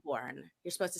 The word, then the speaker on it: Melbourne: station, but look up the Rat FM in Melbourne. And so, do you like how I pronounce that correctly? It's Melbourne. Not Melbourne.